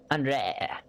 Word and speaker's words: Andre: brain's like, you know, expects to hear, like, Henri, and it's like, no. Andre. That's how you say her name now.